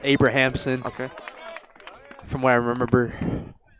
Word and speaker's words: Abrahamson: Second baseman, Abramson. We'll make the catch right around the second base. I believe it's pronounced Abrahamson.